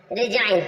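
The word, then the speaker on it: resign: के जी से पहले डी आता है ी साइलेंट रहता है नेक्स्ट जी जी के रूल्स पर चलते हैं जी रिजाइन रिजाइन मीस होता है त्याग देना रिजाइन रिजाइन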